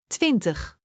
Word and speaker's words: twintig: Twintig .